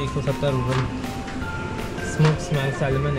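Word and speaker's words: ЦУМ: सुम ही बोलती है, TSUMT तो साइलेंट है, गुम सुम।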